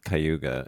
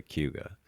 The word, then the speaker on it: Cayuga: I always thought it was Cayuga, and then I started hearing locals say Cayuga. Yes, And that's how that is how we pronounce it. It's like one, yeah, a blended weird word.